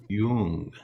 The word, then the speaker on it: Jung: Okay, so if Bob Dylan had been more into psychoanalysis, he might have called his song Forever Young. Jung. Jeez. It's spelled with a J.